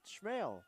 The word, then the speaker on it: Schmeling: Again, I asked Matthew Schmeling before the year even started how to pronounce his name, and he said Schmale, like mailman.